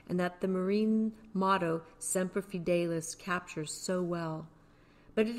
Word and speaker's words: Semper Fidelis: If you look down, you see how to pronounce that. Semper Fidelis.